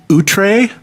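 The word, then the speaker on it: Outre: This is the band Utree, which uh is spelled O U T R E, and it's their album Ghost Chance.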